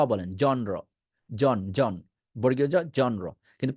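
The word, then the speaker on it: genre: হবে উচ্চারণ ঠিক করবেন এটাকে আমরা বলি জনর বা জেনরা বা অনেক কিছু অনেক কিছু বলি এটা ইংরেজি সাহিত্যের একটা ভাষা ইংরেজি সাহিত্যের শাখা এটাকে বলবেন জনরা জনরা জন র সাউন্ড এখনো করতে না পারেন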